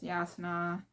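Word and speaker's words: Jasnah: Kaladin is Kaladin, Dalinar is Dalinar, Navani is Navani, Yasna is Yasna, oh, Sit. I forget how he said it, but I pronounce it as Sideus because it makes sense in my head.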